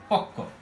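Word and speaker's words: পক্ব: যেমন উদাহরণ দিই, এটাই সহজটা আগেরটাই, পকব আছে, পকব, এখানে আমরা উচ্চারণ করি মূলত পক্ক।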